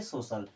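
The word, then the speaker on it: social: की तरह करना है जैसे एसओ सी आई ए एल सी के बाद में आई ए यानी कि स की तरह उच्चारण होगा अब इसे पढ़ेंगे सोशल सोशल मीस होता है सामाजिक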